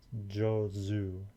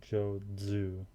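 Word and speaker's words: 上手: 上手妹は歌が上手です Jozu, not Jodzu. Subtle difference. It's not a DZ, it's a Z.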